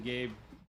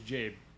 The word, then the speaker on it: Jade: Jen Hughes has been pronouncing Gabe wrong all stream it's Jade sorry maybe that's my